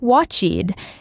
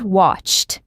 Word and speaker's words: watched: Watched is not watchied, it is just watched.